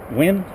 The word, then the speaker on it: Nguyen: Officer Wynn? Yeah, also win. But it's spelled Nguyen. Yeah. NG is silent.